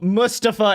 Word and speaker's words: Mustafa: anyways, because they said it was hard to pronounce. But now it's back. They're like, no, Mustafa is not hard.